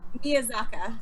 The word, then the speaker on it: Miyazaki: Miyazaka.